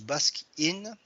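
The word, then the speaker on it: Baskin: la question suivante donc le basque in se prononcent basque in existe en italie et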